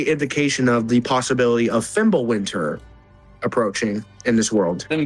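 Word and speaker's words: Fimbulwinter: I do actually know the proper pronunciation cuz it's not a W sound. It's more of a V.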